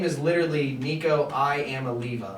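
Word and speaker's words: Iamaleava: His name is literally spelled like I'mma leave you. I'mma leave.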